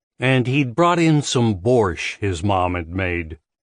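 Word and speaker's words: borscht: his mom had made Mrs Anders had insisted on pronouncing Bor the way it was spelled sounding Out The Silent te and no matter how often he said it correctly she refused to vary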